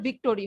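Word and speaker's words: victory: Yes, Bangla ভাষায় ওটাকে মানে বাংলা ইংলিশ বলতে গেলে তখন ভিক্টোরি বলে, মানে প্রপার যদি তুমি মানে স্পেলিং ওয়াইজ প্রোনাউন্স করো তাহলে এটা ভিক্টোরি হবে, ঠিক আছে?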